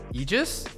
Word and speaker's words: Aegis: then a is silent Aegis all I know is